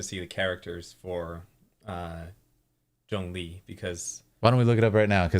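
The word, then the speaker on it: Zhongli: and different characters wow so this here is Jung Le so for anyone who wants to pronounce it correctly Jung Le um Jong Jong Le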